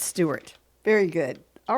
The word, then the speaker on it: Stuart: Stuart. I'm sorry, Stuart. It's Stuart. S-T-U-A-R-T? S-T-U-A-R-T. Okay, yeah, Stuart. I don't know why I said Strout.